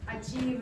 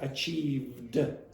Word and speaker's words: achieved: class should notice that there is no last consonant being pronounced when Dennis is saying this. So, what Dennis is saying is achieve. No achieved. Okay? So, there's not a d sound at the end.